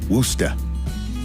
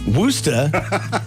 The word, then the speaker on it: Worcestershire: the Boston shirt on, I have to say Worcester. Worcester. How just does call it anyone the- know how That's to how they pronounce say it it right? in Massachusetts. Worcester.